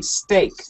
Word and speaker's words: steak: The spelling, the sound is the same as S-T-A-K-E, steak. All right, steak.